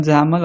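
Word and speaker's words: XAML: call as XML and we can pronounce it as anyone zaml also is an XML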